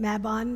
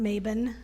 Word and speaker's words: Mabon: But there's a couple different ways to pronounce it. Mabon Maben.